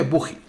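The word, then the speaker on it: bogie: púgil o buque bueno se escribe muy bien pero se dice buggy por lo menos en castellano pues es simplemente es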